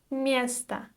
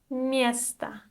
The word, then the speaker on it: место: The next word for today is место. Место. The letter or at the end is unstressed, so we don't pronounce it like o, right?